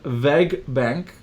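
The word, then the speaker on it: WEG Bank: It's actually called VEG Bank, right? So the W in Germany has like a V kind of sound, right?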